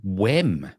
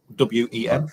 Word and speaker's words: Wem: Did you say the town called Wem? Wem, yeah. How do you spell that? W-E-M. Phlegm.